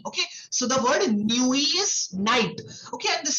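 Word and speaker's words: nuit: So what you do is you combine the word new with E and you say born new E.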